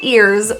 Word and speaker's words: ears: The word ears starts with the E sound. It's a hard onset. The middle of your tongue is high towards the roof and your lips are spread in a smile.